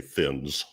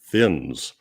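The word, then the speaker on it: Thinnes: just to be clear apparently I've been saying his name wrong my entire life because the pronunciation Guides Online say thins as in a PL th thins so right thins yeah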